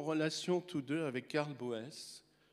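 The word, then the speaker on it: Boès: tous deux avec Carles Boess à prononcer Bus. Enfin, il s'appelait Charles Potier. En fait, c'est un nom d'emprunt mais Boes, on le prononce Bus comme par Nabous.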